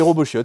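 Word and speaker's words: Robot chiot: et Robo chiot c'est Robo chiot il est là alors je crois qu'on prononce pas le T je veux pas je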